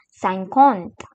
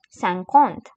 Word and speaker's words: cinquante: And it in French is called as cinquante cinquante So, let us do a recap of what all we have learned.